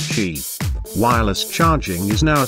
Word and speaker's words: Qi: All three new handsets for 2017 get a major feature that Apple's been lagging on for years: Qi wireless charging, pronounced Qi.